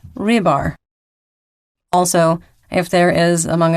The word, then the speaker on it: Rybar: it has been brought to my attention that Russian mercenary mill blogger Rybar is actually pronounced Rybar.